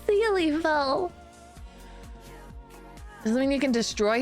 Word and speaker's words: Syliefel: It's pronounced Sillyfell. No, it's Sealyfell.